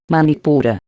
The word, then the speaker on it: Manipura: Manipura. Chakra umbilical, se pronuncia Manipur.